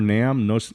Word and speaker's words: NAMM: Is it pronounced NAMM?